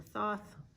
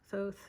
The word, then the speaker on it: Thoth: But, so here we have the RWS and the Thoth, or Thoth, it's pronounced all different ways.